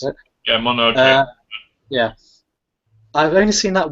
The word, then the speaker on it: Mononoke: How do you pronounce it? Yeah, Mononoke.